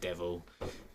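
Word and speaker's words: Devol: It's called Devil, but with an O. Devil. Yeah, you pronounce it Devil.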